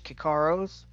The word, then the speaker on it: Kikaro: For the Sengals slash Kikaros, which is pronounced Sengal and Kikaro, Christo, Kirill, Luca, Chali, Jem, Sitka, Soren, Keela, Keegan, Taryn, and Jem.